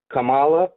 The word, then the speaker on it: Kamala: Camala. Camela. Oh, who? Camela Harris. Who is that? I don't know who that is. I've never heard of a Camela Harris before. Camala.